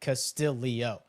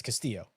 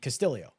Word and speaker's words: Castillo: Please explain to me why NBC broadcast was adding a letter to Castillo's last name pronouncing it Castillio.